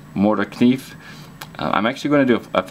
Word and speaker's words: Morakniv: Brand name, I believe, is pronounced Mora Knife.